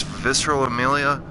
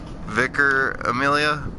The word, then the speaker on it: Vicar Amelia: kill a hey kid well what's the proper pronunciation of this visceral Emilia is what I've called her for a while now I was closed vicar Amelia well yeah that's closer than I thought it